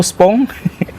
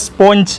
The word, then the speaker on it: sponge: Pak, mau spong? itu dibacanya sebenarnya sponge ya, yang ciki itu, yang seperti itu. Tapi gara-gara bahasa Inggrisnya kurang dan akhirnya jadi kacau gitu.